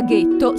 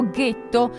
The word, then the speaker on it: ghetto: Gli ebrei di origine tedesca pronunciavano questo nome con la G dura, da cui derivò ghetto, che dal XVI secolo